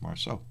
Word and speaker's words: Marceau: Thank you, Dan Marceau. And aren't you proud of me that I know that name? Hell yes, I know how to pronounce that name. It's Marceau. Because I know the EAU.